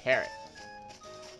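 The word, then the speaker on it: Carat: It's pronounced carrot.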